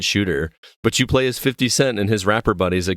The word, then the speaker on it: 50 Cent: it's actually 50 or 50 cent i'm sorry 50 cent so it makes me think of south park when it's pronounced that way though if you give up